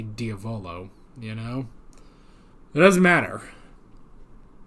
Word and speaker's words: Diavolo: like a bit but diavolo obviously sounds more like Diablo which is probably which